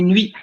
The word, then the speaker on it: nuit: Vous avez deux voyelles, le U et le I. Voilà. Le U et le I qui se prononcent en une seule syllabe. On dit nuit.